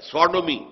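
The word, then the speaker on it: Sodom: ہے منسوب کیا گیا، سوڈومی، سودوم، سودوم وہ شہر تھا، سدوم جس کو ہم کہتے ہیں، سوڈوم، ایس او ڈی او ایم، یہ بائبل میں اس کا تلفظ ہے، تو اس سے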